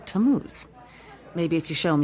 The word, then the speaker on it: Tamuz: to what T A mm u z it's pronounced tamuz maybe if you show him your evidence he'll